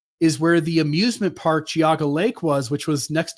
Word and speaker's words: Geauga: Um, this is in the Paynesville uh township, Giaga County, Ohio.